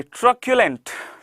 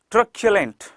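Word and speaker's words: truculent: अच्छा एक चीज को जरा समझिएगा प्रोनाउंसिएशन के आधार पर, जिस वर्ड के बीच में सी यू आता है उसे हम क्या पढ़ते हैं। जैसे मस्क्यूलर नहीं होता, मस्क्यूलर, मस्क्यूलर। पर्टिकुलर नहीं कहते हैं, पर्टिकुलर।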